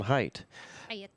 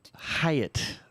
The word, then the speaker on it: Hiatt: with the show Drive South which was John height Hiatt all right I always say it wrong you